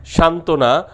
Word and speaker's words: সান্ত্বনা: যুক্ত ব্যঞ্জন এ বফলা যুক্ত হলে ব উচ্চারিত হয় না, যেমন দ্বন্দ্ব, সান্ত্বনা, উজ্জ্বল, উচ্ছ্বাস।